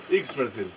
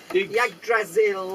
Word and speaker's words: Yggdrasil: And How do you pronounce the tree? Yggdrasil. Oh, I was going to say, because I can never get Which that is pronunciation. Yggdrasil.